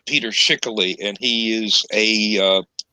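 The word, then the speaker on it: Peter Schickele: two silent running and rejoicing the sun okay pronounced peter schickely and he is a uh he is somebody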